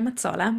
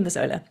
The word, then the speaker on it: Mazzola: audience yeah I'm matsola which is the Italian way of saying it it's really mazzola it's also um doable